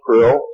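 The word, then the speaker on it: Krlll: name and title was his omnipotent highness Krill pronounced Krill spelled KR l l l or c r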